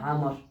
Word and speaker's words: আমর: তখন সেটা উচ্চারণ হবে ওমর, আর যখন এটার সাথে যখন র এর পরে যখন ওয়া থাকবে তখন সেটার উচ্চারণ হবে আমর।